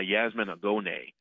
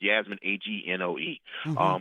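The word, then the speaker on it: Yasmin Angoe: a book called Her Name is Night by Yasmin Agone. I'm pronouncing it wrong. It's Yasmin, Agnoe.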